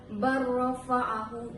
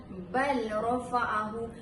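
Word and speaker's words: بَل رَّفَعَهُ: Saya ulang lagi sekali, cara bacaan yang tepat adalah barrafa'ahu. Cara bacaan yang kurang tepat adalah bal rafa'ahu, menyebutkan huruf lam dan tidak memasukkan huruf lam kepada huruf ra.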